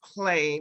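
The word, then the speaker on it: Hle: um she goes by I believe it's pronounced clay but it's spelled h-l-e and if you like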